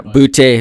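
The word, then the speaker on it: Boutte: Receiver for New Orleans boote for uh but I don't know sorry buddy yeah booty booty okay there's no uh I went to LSU Accent on the E but anyways we'll clarify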